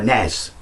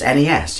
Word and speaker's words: NES: day and he's like why do you always you know call it call it Nez it's NES you know it's it's American it's the Nintendo Entertainment System I said no it's no it's not it's it's Nez before everyone jumps in there goes no no no it's NES this is where I'm